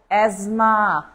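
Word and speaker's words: asthma: এর পরে যেটা দেওয়া আছে এটা খুবই গুরুত্বপূর্ণ এজমা এজমা স্পেলিং দেখেন এই যে সেই এজমা এই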